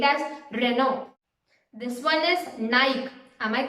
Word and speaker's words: Nike: This one is Nike. Am I correct? No, it's not Nike, it's Nike.